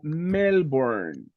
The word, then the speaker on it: Melbourne: In this case, you say Melbourne. That is the proper name. Like Santa Ana, Melbourne it's a name. It's a proper name. Melbourne building.